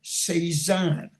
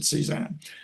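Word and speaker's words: CSAAHN: Simply go to Internet Archive and search for Sezan. Now, that's C-S-A-A-H-N. I pronounce it Sezan.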